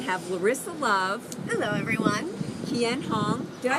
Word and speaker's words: Kien Hoang: Kien Hoang. Did I say it right? Kien Hoang, yes.